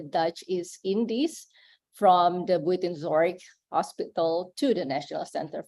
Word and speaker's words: Buitenzorg: Buitenzorg. Okay. Anyone who can pronounce correctly will get door prize, yeah?